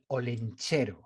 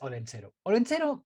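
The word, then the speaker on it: Olentzero: have a different tradition and it's called el holencero wait wait wait yup o-l-e-n-t-x-e-r-o orlando i'm shocked that you could spell that word i haven't read it down here okay all right so who is odenzero let's say it's the basque santa claus we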